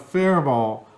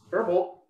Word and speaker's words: Faribault: Minnesota, the pronunciation of Faribault. Always thought the T was silent, but have heard you say different. The correct pronunciation is with a silent T. It's a French name.